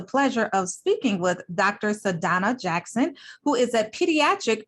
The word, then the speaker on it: Sadhana: Sadhana Jackson. And I'm sorry, did I pronounce?